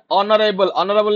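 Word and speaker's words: honourable: कार हला next question word ऑनरेबल H silent रोज बारंबार कहूँ से जिन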